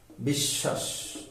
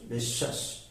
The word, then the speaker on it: বিশ্বাস: হয়েছে তারপরে ব ফলা মাঝে বা শেষে অনুচ্চারিত মানে বফলাটা উচ্চারণ আসবে না তখন দুইবার হবে যেমন ঐশ্বর্য ঐশ্বর্য বিশ্বাস বিশ্বাস বিদ্যান বিদ্যান তারপরে অনুচ্চারিত